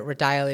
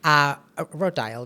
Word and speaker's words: Rodial: I don't know if you remember or not, but I met you at a Rodial event. Rodial, that's how we say it.